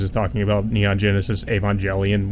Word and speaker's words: Evangelion: It kind of gives me an excuse to where Robin Williams is talking about Neon Genesis Evangelion, which is pronounced Evangelion, but he pronounces it Evangelion.